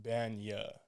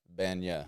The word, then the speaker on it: Bagnah: So it's pronounced Bagnah. Bagnah.